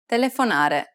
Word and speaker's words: telefonare: Telefonare. The answer is the second to last syllable.